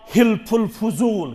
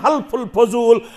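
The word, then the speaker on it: حلف الفضول: तथ एग्रीमेंटस ओस नाव हिल्फुल फजूल क्या ओस नाव हिल्फुल फजूल क्या वन हल्फुल फजूल मगर सही प्रोनाउंसिएशन हिल्फुल फजूल मदीनस अंदर युस वनकनस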